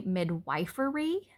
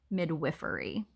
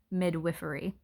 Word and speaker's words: midwifery: weird to me because I feel like it should be midwifery, but in all actuality, the way you are supposed to pronounce it is midwifery. I don't know. I don't get it, but that's okay. So, just in case you're wondering, the correct way to pronounce that is midwifery.